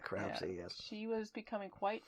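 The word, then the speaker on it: Crapsey: name was Adeline crap I'd like crap say yes you heard it here first spell it off we see our apse why crap say yes she was becoming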